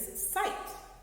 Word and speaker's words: sight: So actually, the G and the H are both silent. So this first word is sight.